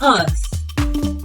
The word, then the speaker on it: earth: Remember, the sound is mispronounced as t, so it's not pronounced as mouth, but mouth. Not it, but earth.